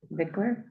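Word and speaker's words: victualler: throat] Viddler fiddler Vickler Vickler yes just like fiddler Vickler I looked I watched I watched a video of how to say it.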